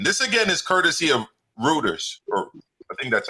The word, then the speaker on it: Reuters: This again is courtesy of Reuters, or I think that's how you pronounce it. Reuters. Sorry, Reuters.